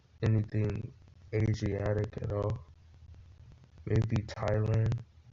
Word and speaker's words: Thailand: Maybe Thailand, just because the H is silent.